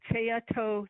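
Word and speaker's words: Tsayatoh: to make sure okay t-s-a-y-a-t-o-h i don't have the county road number but everyone knows as a tea-toe turn-off okay thank you thank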